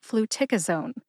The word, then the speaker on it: Fluticasone: Put all 4 syllables together and you get Fluticasone. Emphasize tic. See if you can hear tic emphasized when I say it again.